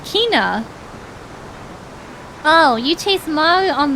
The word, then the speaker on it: Quina: Sweet Kina. I called her quinoa when I was a kid. That's so cute. Yeah, that's like how I pictured the pronunciation of like Kina in my head.